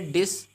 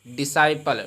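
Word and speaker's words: disciple: इसी प्रकार से डिससाइपल, क्या है, डिससाइपल। तो डिसाइपल नहीं पढ़ेंगे, इसको क्या पढ़ेंगे, डिसाइपल। डिससाइपल नहीं पढ़ेंगे बल्कि क्या पढ़ेंगे, डिसाइपल, क्योंकि एस आपका साइलेंट होता है।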